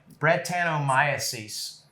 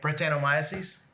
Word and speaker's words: Brettanomyces: Brettanomyces.